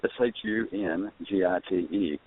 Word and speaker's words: Shungite: So it's Shungite, and I just threw a long I on it, and it's a short one, so, Shugite.